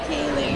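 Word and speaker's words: Kailey: Kaylee. Is that traditional spelling or how do you spell it?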